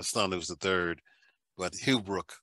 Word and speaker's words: Hughbrook: And do you pronounce it Hughbrook? It's Hughbrook, but I Hughbrook.